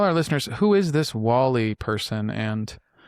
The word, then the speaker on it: WALi: It's not walleye. I've gotten that one before.